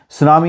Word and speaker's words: tsunamis: As we know from the tsunamis, T silent रहता है। सुनामी आपको पता है जब